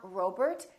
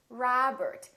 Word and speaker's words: Robert: with the letter O make sure that you don't say oh it's not Robert it's Robert it's not McDonald its McDonald